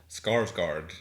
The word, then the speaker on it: Skarsgård: Skarsgård.